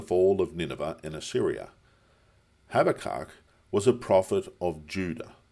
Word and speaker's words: Habakkuk: But keep in mind in Hebrew they often pronounce our B as a V. Havak.